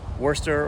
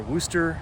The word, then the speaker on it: Worcester: holy cross overlooking the the great city of uh wurster or wooster massachusetts i guess is how the locals pronounce it there's actually a number